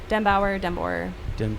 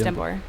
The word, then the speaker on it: Denbor: Denbauer, it's Denbor.